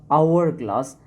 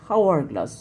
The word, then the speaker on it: hourglass: Hourglass, though this word has started with consonant sound, but we are pronouncing it hourglass, not hourglass, so here we will use an.